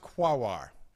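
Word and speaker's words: Quaoar: Quoir, Sedna, and Orcus. Okay. Yes, it is pronounced quawar.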